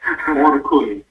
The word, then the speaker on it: Orkun: Orkun. Orkun. Okay, it's spelled, it sounds similar to my first name. My first name is.